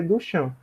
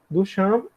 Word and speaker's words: Duchamp: eu vou falar muito dele hoje, que é Duchamp. Duchamp, ou Duchamp, se escreve Duchamp.